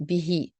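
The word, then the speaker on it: بِهِ: The ha is the third person attached pronoun, third person singular masculine, ending with a kasra instead of the dhamma that we would usually have here. So we would say bihi, and he guides with it many.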